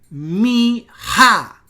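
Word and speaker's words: מיכיהו: Nótenlo ustedes, aquí tenemos otra vez el acento y ahora noten ustedes que es Mihayahu. Miha. O sea, ahora el acento no es Mihayahu, sino que es Miha.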